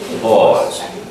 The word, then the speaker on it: pause: The pause. The pause of the cat would be P-A-W-S. But this is the same pronunciation, pause, but it's P-A-U-S-E.